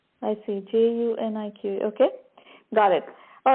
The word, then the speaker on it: Junique: It's Unique. It's Junique. I see, Junique.